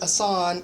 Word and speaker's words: Jasson: his first name is spelled like I thought it was Jasson, but Jasson is the proper pronunciation.